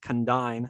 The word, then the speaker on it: Condign: name condyne because like to say it right condine sounds ridiculous no one knows it by that but this